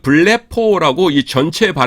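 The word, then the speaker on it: βλέπω: 그래서 여기 에서 발음 을 확인 할 수 있습니다 . 정식 명칭 은 블레포 입니다 .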